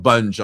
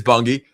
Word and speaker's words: Bungy: about talk about it, go call it Bungee. I'm like, oh, it just it just irritates the hell out of me when somebody mispronounces the name of a company. But it is Bungy.